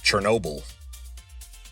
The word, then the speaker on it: Chernobyl: Chornobyl, which we would pronounce Chernobyl, as in the town in Ukraine that experienced a nuclear power disaster in 1986.